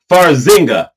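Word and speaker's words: Farxiga: It's It's pronounced Farzinga.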